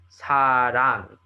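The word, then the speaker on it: 사랑: Whatever value you put in front of it, but this influences the word sarang. You need to pronounce the ng at the end, rang.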